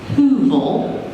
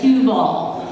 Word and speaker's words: Heuvel: So, um she would like to be known as Huvel. Is that correct? Hug. Hu. Okay. And he would like to be known as Huall.